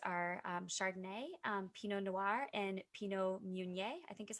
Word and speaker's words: Pinot Meunier: ones they use are Chardonnay, Pinot Noir, and Pinot Meunier, I think is how you say it.